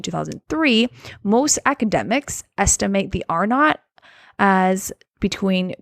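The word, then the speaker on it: R0: uh who don't know R not looks like R zero but pronounced R not is the basic reproduction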